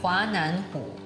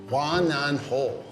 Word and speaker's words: 华南虎: 华南虎. 华南虎. 华南虎. 华南虎. Pretty good, huh? They're laughing at me. Okay. Here we go. 华南虎.